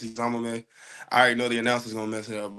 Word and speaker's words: Eziomume: the my name Isam if y'all don't know how to pronounce my last name it's Isam I already know the